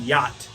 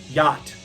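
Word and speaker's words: Jätt: debut full-length album and it's going to be called yacht which is spelled j a with the little umlauts over it so j a with the little umlauts tt yacht and the lead singer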